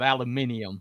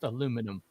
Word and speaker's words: aluminum: So, they're the ones that came up with aluminium, but it's actually pronounced aluminum.